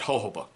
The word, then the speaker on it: jojoba: I've seen so many people, you know, pronounce it whatever. I call it jojoba. That's just me.